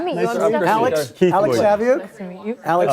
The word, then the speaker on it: Saviuk: rhymes with book, you know? Saviuk.